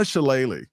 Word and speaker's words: Shalala: It was Donna Shalala.